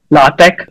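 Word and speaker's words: LaTeX: so I wrote my in a software called La Tech it's l-a-t-e-x it has it's actual researchers use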